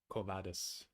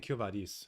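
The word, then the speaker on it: Quo Vadis: Covadis. I've been saying Kyovadis, and I wonder if that's because there's a Canadian metal band called Kyovadis, and I think that's how it's pronounced for them.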